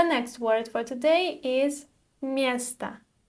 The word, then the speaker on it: место: The next word for today is место. Место. The letter or at the end is unstressed, so we don't pronounce it like o, right?